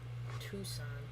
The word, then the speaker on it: Tucson: You're like Oregon or Tucson, putting letters where they don't need to be. Tucson.